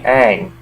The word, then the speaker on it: Aang: The kid playing Aang, they call him Ong in the movie, but his name's Aang, let's face it.